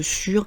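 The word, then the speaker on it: sûre: Vous voyez que le « e » qui est entre parenthèses, c'est le « e » pour le féminin, mais on prononce « sur », c'est juste pour l'orthographe, si jamais vous écrivez un email.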